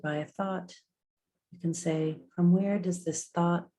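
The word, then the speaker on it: Sah: On the exhale, the mantra is Sa, S-A-H, Sa.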